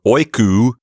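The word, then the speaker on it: οἴκου: That's the Omicron upsilon diphthong. It sounds like oo. And so oiku is the genitive singular.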